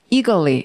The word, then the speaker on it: eagerly: 자, 발음은 eagerly 이래요. 자, 이걸 소리 내보죠. eagerly.